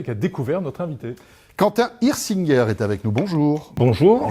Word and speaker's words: Hirsinger: À l'alsacienne, ça sera Hirsinger, et sinon, à la parisienne, Hirsinger. C'est vraiment comme vous voulez.